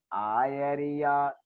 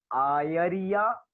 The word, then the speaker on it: आयरिया: लणा धीरा गुण गंभीरा आयरिया एरिसा होंती, आयरिया आयरिया ए नहीं लिखा, य लिखा है, आय आयरिया एरिसा होंती।